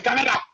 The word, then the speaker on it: Kaneda: It just So for the purposes of this, I'll say Kaneda. That way we won't get people upset about how we pronounce things. I'm pronouncing like the way it was on the movie.